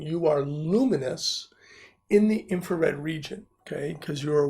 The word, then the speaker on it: infrared: going okay so our next form is infrared okay unfortunately some students say it wrong and they say inferred okay and so night